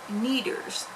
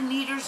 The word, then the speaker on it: Kneaders: birthday we went out to a place called kneaders and neither is spelled k-n-e-a-d-e-r-s which i will put up on the screen if i have editing software anyways you might have a needers in your state we don't have them out